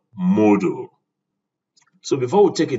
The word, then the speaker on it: Moodle: Now, it's as if you are pronouncing Moodle and not Moodle, because I can hear some people call it Moodle. It is not module, but Moodle.